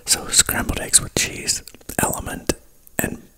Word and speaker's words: LMNT: I also drink Element, which is LMNT, Larry, Mary, Nancy, Tom, LMNT, which is pronounced element, but that is like a hydrating drink.